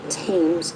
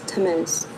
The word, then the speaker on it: Temez: It's not Thames, it's Temez. My husband, he wanted that to be made clear. He said if somebody's going to say his last name, they better learn how to say it.